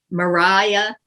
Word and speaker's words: Maria: three here come the clowns we get toby mariah yeah that's how you pronounce it and andrew sir andrew aguecheek uh